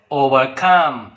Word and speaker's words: overcome: Okay, the compound words generally take the stress on the second word. For example, understand, overcome. So here the second word is stressed.